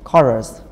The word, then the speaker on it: chorus: Cái này là chorus. Âm ca. Chorus. Chorus. Cái này mình dịch là điệp khúc mà. Chorus. Nhớ đọc âm ca nha.